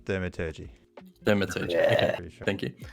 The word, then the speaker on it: thaumaturgy: Okay, and as for the Thermatology, I just want to see... Sorry, Oh, I'm my not It's going to just say it's very it's- effect based. yeah, It's like okay. prestidigitation. it's pronounced thaumaturgy.